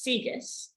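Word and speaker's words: CEGIS: we solve it okay i'm pronouncing this sigis this is counter-example guided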